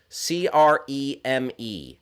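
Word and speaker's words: crème: parley vouch creme i think you can also get away with cream or cream but creams cranberry travis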